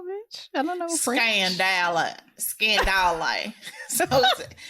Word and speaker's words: scandale: Scandale.